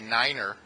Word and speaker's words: niner: the radio you say Niner and on the radio you say Fife FIF I'm not making this up